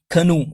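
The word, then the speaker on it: canoe: इसका जो जो केनू कहते हैं एक बड़ी सी जो कश्ती होती है ना जिसके ऊपर वो अपने जाता था और फिर उसको कहते हैं कनू। इसको कनू प्रोनाउंस करते हैं।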